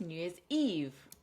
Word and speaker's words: New Year's Eve: So three syllables, New Year's Eve. Stress on the last syllable.